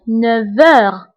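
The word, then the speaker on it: neuf heures: انتبهوا للنطق فقلت 9 heures V. نطقت لا لتر V مع أنه ما مكتوباش لأنه عندي لا liaison entre F et H.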